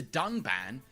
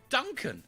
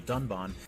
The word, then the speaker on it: Dunban: strongly disagree with and then calls the character dunban Duncan this time however they did edit out the